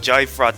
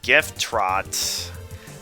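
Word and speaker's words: Gyftrot: didn't even take the time to pra everyone pronounces it jay fraught that i didn't even take the time to properly pronounce it correctly it's gift trot um attack 16 defense 8 some teens decorated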